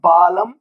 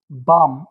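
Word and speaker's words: palm: silent हो जाएगा तो इट विल नॉट बी बालम और बालम इट विल बिकम बाम और इट विल बिकम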